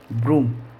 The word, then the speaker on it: broom: अब हम लेते हैं डबल ओ का उच्चारण बड़ा ऊ। अब देखो, जैसे डबल ओ है इसका उच्चारण हम कैसे करेंगे? जैसे मैंने लिखा BROOM, ब्रूम, ब्रूम यानी होती है झाड़ू। तो यहाँ पर जब हम डबल ओ का उच्चारण करेंगे तो क्या बनेगा? ब्रूम, ब्रूम यानी होती है झाड़ू। तो यहाँ पर डबल ओ का उच्चारण हुआ बड़ा ऊ।